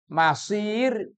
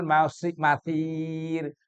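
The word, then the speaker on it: مصير: Tapi kalau masir, masir itu tempat kembali. Wabi sal masir, dan neraka itu adalah seburuk-buruk tempat kembali. Maka bacanya jangan wabi sal masir pakai sa, ya jadi berubah.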